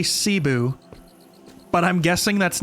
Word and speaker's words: Cebu: That's how you pronounce it? Cebu.